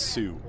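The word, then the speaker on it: Sault: St Marie it's spelled s a u l t but it's salt it's Sue it's French same thing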